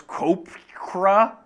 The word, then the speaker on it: Koepka: Is it Koepka? It's Koepka. It is Koepka. Most people, I believe, people are like Brooks Koepka.